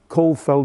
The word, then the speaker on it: Caulfield: and he sometimes he spelt it you'll notice it's spelt field sometimes but it's failed from Ireland both Wade and Col Feld were Irish and leftenant colonel scheme so feasts